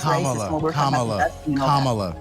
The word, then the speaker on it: Kamala: It's made, let's talk about Kamala saying that Biden was racist when we're talking about Kamala rhymes with comma, the punctuation, or mama.